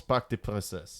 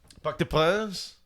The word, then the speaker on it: Parc des Princes: Yeah, Stade de France, Parc des Princes. That's the one. S is silent. Parc des Princes.